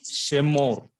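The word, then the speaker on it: שְׁמֹר: Whenever a letter begins, you see here Shemor. This word Shin. Under that Shiva is that, and that Shiva is vocal. Therefore, the sound is Shemor, Shemor.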